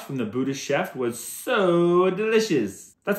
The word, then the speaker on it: Tso: how to say this is the TS so is it so so so like the t is silent I think so what are you